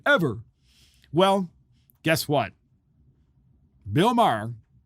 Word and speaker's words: Maher: I always wish he would just spell his name M-A-R, but it's M-A-H-E-R. So it looks like it's Maher, but it's Bill Maher, right?